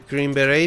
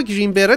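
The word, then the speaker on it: Green Beret: البته اینو من میگم گرین بری بیاد، بعد اینم ما گرین بری تلفظ میکنیم در صورتی که گرین بری یا گرین بری درسته. یعنی تش نوشته میشه ولی خونده نمیشه.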